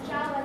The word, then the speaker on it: Zhao: Is it Zhao? It's Zhao with a J.